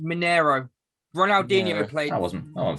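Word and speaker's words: Mineirão: as well it's pretty it's pronounced monero ronaldinho played i wasn't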